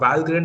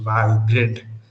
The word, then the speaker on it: Valgrind: thing though the first time i heard about valgrind i thought it was pronounced val grind because it has grind in it but i recently learned that it is pronounced while grid so the least that you can do for